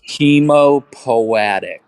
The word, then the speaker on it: hematopoietic: Hemopoietic is how I've heard most professors pronounce it. I'm gonna I'm copy pasting the word into chat. I pronounce it like hematopoietic.